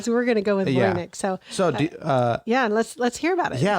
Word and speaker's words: Voynich: out, I think, that's kind of the closer pronunciation than whatever I was saying last time. Okay, we're going to go with Voynich.